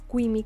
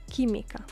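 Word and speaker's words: química: Kim Kim is chemistry remember the U without the two dots on top and in between a q or a g and an i or an e is not pronounced so in this case it is not qu it is Kim chemistry Biologia Biologia biology now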